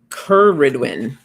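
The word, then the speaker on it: Cerridwen: We have um I'mma look I like that this book tells you how to pronounce names. Where is it? Curridwin.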